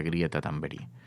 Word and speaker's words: Greta Thunberg: Pero Greta Thunberg se pronuncia Greta Thunberg.